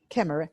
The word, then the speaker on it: Khmer: Also gets by with Khmer. Is that how you pronounce it, Lee? Khmer? Khmer? Khmer and Thai.